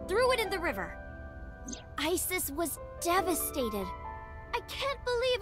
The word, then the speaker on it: Isis: mom is named isis but in ancient egyptian it's pronounced closer to isa or asa hmm how do i